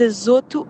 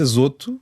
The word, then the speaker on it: azoto: Eh, neste caso, eh, eu, eu sempre disse azoto com o mais fechado, mas fui ver aos dicionários e às e aos recursos que apontam a forma de pronunciar. Já sabemos que isto, formas de pronunciar corretas é sempre muito discutível, mas todos indicam que é azoto.